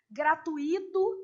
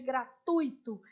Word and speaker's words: gratuito: Igual a gente falar condor em vez de condor, gratuito em vez de gratuito.